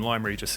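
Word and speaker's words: Lyme Regis: we will actually run the line through to lime regis um and limery just is the correct pronunciation i looked it up after my last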